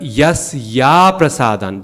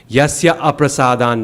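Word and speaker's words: यस्याप्रसादान्: Now, it's a long A, but we still shouldn't break it up. Yasya aprasadan nagati katopi, because then in the singing, you've lost the rhythm. You've added an extra syllable.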